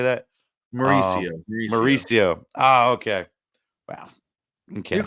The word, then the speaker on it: Mauricio: Ronnie Marchuccio, I believe is how you say that. Mauricio.